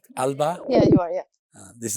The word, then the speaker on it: Alba: Am I pronouncing it right? Alba?